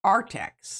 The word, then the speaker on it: ARRTX: Artx. ARRTX. But they are... Artex.